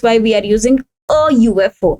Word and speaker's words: UFO: Uh now if we see the word UFO though u is beginning with a vow is if it's if we see this the pronunciation of this word it will be beginning with y which is a vanjen.